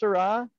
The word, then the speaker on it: Syrah: So they're both pronounced Syrah, and they're two different products.